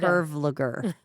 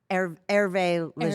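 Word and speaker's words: Hervé Léger: So I didn't know how to pronounce it. Speaker 2: I thought it was Herve Luger. Speaker 1: Herve Ligur. Speaker 2: Herve Ligur. And it was not. It's Herve Lege.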